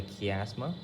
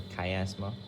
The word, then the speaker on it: chiasma: Okay, this region we call it the chiasma or chiasma or whatever you want to pronounce it.